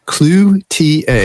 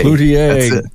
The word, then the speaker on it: Cloutier: getting together with Chris, I'm going to actually pronounce his French name the right way. You've got it. Cloutier. Cloutier.